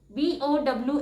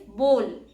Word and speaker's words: bowl: B O W L bowl. And the correct pronunciation is bowl. It's not bow, it's bowl.